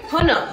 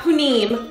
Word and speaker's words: punim: Punam, not punim, punam.